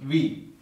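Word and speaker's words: wie: IE is pronounced as E just like in B. IE, for example, simple one, V. W-I-E. So IE will be pronounced as E sound.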